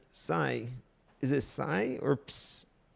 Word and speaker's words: psi: Now, in English the most common pronunciation is as psi, okay?